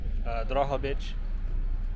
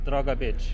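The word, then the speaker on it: Drohobych: If you pronounce it the Ukrainian way, it's like Drogobytch. But if you pronounce it the Russian way, it's Drogobytch.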